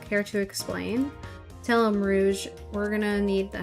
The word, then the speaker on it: Rouge: Is it rouge? Rouge. Yeah. Rouge. So it's like French.